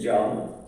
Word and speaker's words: Can: Well, my name is pronounced actually John. John? Yeah, like John.